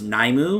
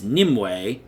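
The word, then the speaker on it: Nymue: of the dreams and I mispronounced this boss's name I thought it was NAU but apparently it's nimway whatever so yeah we'll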